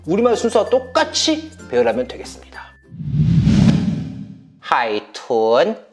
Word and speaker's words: 海豚: 자, 그러면 내가 생각하기에 我觉得 돌고래는 하이툰 너보다 비니 똘똘하다 총밍. 자, 이렇게 하면 되는 거예요. 자, 제가 한번 발음하겠습니다.